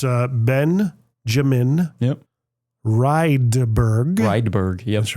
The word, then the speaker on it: Rydberg: Rydberg. Yep. That's right. Yeah. I get a lot of mispronunciations, which is funny because like Rydberg, if you go over Europe, it's basically like Johnson.